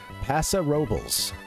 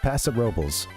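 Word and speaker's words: Paso Robles: And uh there's a place called and people pronounce it uh a lot of the folks that live there pronounce it and have for a long time. Passa Robels. Just Pasa Robels.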